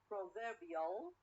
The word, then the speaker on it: proverbial: say proverb proverb proverb when i add ill okay ill proverbial proverbial i change the stress or the stress is changed from the first syllable to the second syllable okay so again we